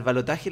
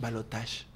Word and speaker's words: balotaje: Lo que más me sorprende es que los argentinos, pronunciando todas las palabras internacionales mal, colgate, esprite, al balotaje le dicen balotage.